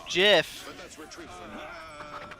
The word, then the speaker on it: GIF: It's Jiff. But let's retreat from that. It is Jiff.